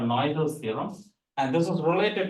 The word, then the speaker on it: Noether: Noilers? Oh, okay, I might be wrong in pronouncing it. Noether's. Noether. She was a German, so she.